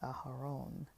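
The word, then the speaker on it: אהרן: And Aaron is Aharon. It's not Aaron.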